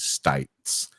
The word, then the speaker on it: Stites: He gave us the pronunciation for her last name, which is Stites.